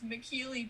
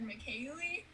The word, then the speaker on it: McKeely: professional triathlete from australia her name was mckeely jones and they mispronounced it over the speakers and said mckayley jones and my parents were